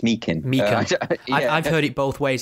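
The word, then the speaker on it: Meechan: By the way, I should say this because everyone's pronouncing it Meechin. It's Meekin.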